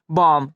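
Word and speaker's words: bomb: है इसलिए यह की अभी यहां क्या होगा साइलेंट होगा इसे हम क्या पढ़ेंगे बम इसे हम क्या पढ़ेंगे बम ये नहीं की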